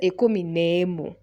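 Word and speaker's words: na emu: But when you write na, then emu, n-a-e, that word that is pronounced as ne. So just say ikumi nemu.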